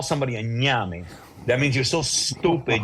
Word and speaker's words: ñame: The N with the accent mark on top, AME, like name, but with the gives you an accent mark.